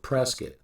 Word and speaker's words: Prescott: And yes, the locals pronounce it Presoctt, like biscuit.